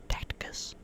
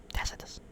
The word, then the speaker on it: Tacitus: of Menendez's Shell Corporation, Tacticus or Tact Tactus. Tacitus. Whoops. I feel like I think I've been mispronouncing it for a while.